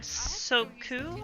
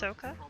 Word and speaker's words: Soka: You said Soku? I believe it is pronounced Soka, I've been told.